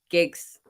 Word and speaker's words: Giggs: Yeah, Giggs.